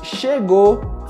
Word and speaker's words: chegou: Nesse caso, na maioria das vezes, nós simplesmente não pronunciamos o som da letra U. Portanto, nós falamos chegou, falou e tentou.